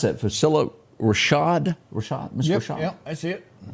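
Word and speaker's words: Phylicia Rashad: And you pronounce that Facilla Rashad?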